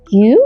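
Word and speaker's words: 九: 9কে কিউ আর কু দুটোই বলা হয়, কিন্তু কু শব্দটা আবার এই কাঞ্জির উচ্চারণ, যার মানে যন্ত্রণা। তাই কিউই বেশি ব্যবহার করা হয়।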